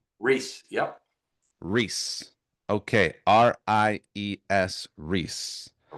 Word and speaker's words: Ries: So Reese, Ries, Reese.